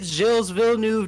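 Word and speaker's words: Gilles Villeneuve: in left-hand turns here we are at circuit jill's villeneuve north of the border montreal canada and i'm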